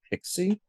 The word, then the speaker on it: PKCE: my in my head people call that pixie I mean it makes